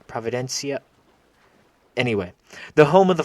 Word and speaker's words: Providencia: And then Kingston, and of course, Isle Providencia. I didn't pronounce that correctly. Providencia.